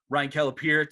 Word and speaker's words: Kelapire: But we'll go ahead and we'll welcome Ryan Kelapire to Sports Amigos. Welcome to this groundbreaking edition, Ryan. Thanks for having me.